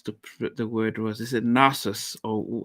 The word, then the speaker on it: Nasrus: Was is it Narcissus, or how do you pronounce the name of your group? It's Nazareth.